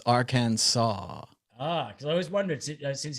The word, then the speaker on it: Arkansas: is that's our cat it's not our kansas or kansas people are counting down in the chat to whether i screw up and call it our kansas which clearly is how it's spelled but it's arcane ah cause i always wondered